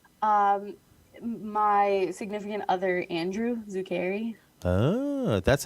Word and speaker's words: Zuccari: Um, my significant other, Andrew Zuccari. Oh, that's how you Yeah.